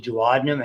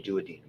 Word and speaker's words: duodenum: The duodenum, however you want, I pronounce it that way. Some people say duodenum.